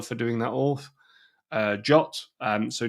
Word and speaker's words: JWT: doing that off uh jot um so JWT is Json web token it is pronounced jot um and that is